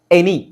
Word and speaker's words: any: ಕಡೆ ಜಾಸ್ತಿ ಅಲ್ಲ ಎ ಇಲ್ಲಿ ನೋಡಿ ಎನಿ ಎ ನಿ ಅಂತ ಇದೆಯಾ ಇದಗೆ ಎ ಬಂದಿದೆಯಾ ಇಲ್ಲಿ ಉಚ್ಚಾರಣೆ ಏನು ಎನಿ ಆಕ್ಚುಲಿ ಎ ಅನ್ನೋ ಅಕ್ಷರಕ್ಕೆ ಸ್ಪೆಲ್ಲಿಂಗ್ ಯಾವುದು ಇಎ ಅನ್ನೋ ಸೌಂಡ್ ಗೆ ಸ್ಪೆಲ್ಲಿಂಗ್ ಯಾವುದು ಇ ಆದರೆ ಇಲ್ಲಿ ಏನು ಬಂದಿದೆ ಎ ಅನ್ನೋ ಸ್ಪೆಲ್ಲಿಂಗ್ಗೆ ಎ ಬಂದಿದೆ ಎ ಅಕ್ಷರ ಬಂದಿದೆ ಎ ಅನ್ನೋ ಸೌಂಡ್ಗೆ ಎ